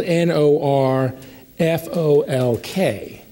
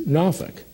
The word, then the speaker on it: Norfolk: o l k and even as a come here I know that the preferred pronunciation is nuk uh it came out probably four or five times as Norfolk uh it was